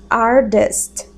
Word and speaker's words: artist: Esse T a gente fala com som de D. Artist.